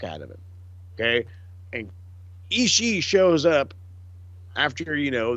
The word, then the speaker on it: Ishii: I think also one of my new favorite things is JR pronouncing both I's at the end of Ishii's name. Ishii. Mm-hmm. Well, I mean, that's you're supposed to say Ishii, but I love, it's